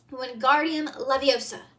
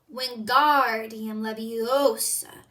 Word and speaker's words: Wingardium Leviosa: "Wingardium Leviosa," he shouted, waving his long arm like a windmill. "You're saying it wrong," Harry heard Hermione snap. "It's Wingardium Leviosa. Make the gar nice and long."